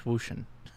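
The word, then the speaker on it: Wouxun: It's pronounced. how you say it in Chinese, so I'm told. No, it's O-Chang. Wushan. It's Wushan. It's ocean. It's Yeah. ocean. It's ocean.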